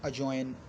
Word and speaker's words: adjoin: जैसे कि इसकी और एग्जांपल्स हैं ADJOIN अजॉइन, या ADJOUR अजर्न।